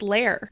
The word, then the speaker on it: lair: really like your layer are we are we pronouncing this word right because or is this our accent because i'm hearing layer layer the word it's lair yeah but i can't